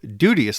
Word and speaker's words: duteous: Further, in line 12, duteous likewise has 2 syllables rather than the 3 that we use today.